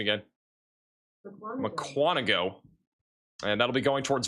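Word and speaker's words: Mukwonago: That is going to be going towards I need to get the pronunciation again. McQuanago.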